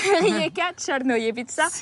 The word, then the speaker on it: Rijeka Crnojevića: Allez, prononce-le. Rijeka Černojevica.